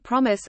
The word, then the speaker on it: PROMES: The Program for the Mastery of Engineering Studies Program, or PROMES program, pronounced PROMIS, offers specialized freshman and transfer student curricula that emphasizes academic success strategies and personal and professional skills development.